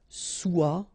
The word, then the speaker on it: soit: Okay, then of course être and avoir, so être will become soit, remember final S is not pronounced, soit, then soyons, soyez, all right, soit, soyons, soyez.